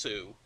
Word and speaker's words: Sioux: Yeah, well, it's pronounced Sioux, which is why it's the Sioux.